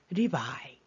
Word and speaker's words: Levi: 세 번째 아들이 레위예요 영어 발음은 리바이 리바이이 셋째 아들 레위 리바이 물론 요새 이제는 요셉하고